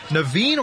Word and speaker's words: Naveen: Naveen Rashid, whose name rhymes with machine, sometimes her offensive output making her seem like one.